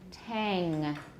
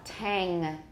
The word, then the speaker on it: tang: an m not bad most Taiwanese pronounce that tan and these are bands right hmm okay once more Tang it's not quite to a and it's higher than a it's between a and a hang tongue good